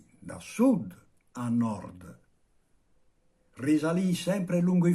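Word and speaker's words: Norge: in norvegia dove abbiamo nord e il nome della norvegia pronunciato dal dagli abitanti nor questa radice la ritroviamo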